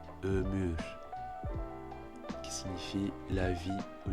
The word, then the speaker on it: ömür: Donc la bonne prononciation c'est ömür, ömür, qui signifie la vie ou l'espérance de vie.